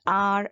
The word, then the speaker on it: hour: An is also used before a word beginning with H but not sounded. The H is silent.